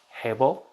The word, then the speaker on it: Abel: his brother abel now abel uh in hebrew it's actually pronounced hebel um but for us